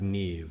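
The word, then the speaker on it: Niamh: Like Neve is spelled Neambuff.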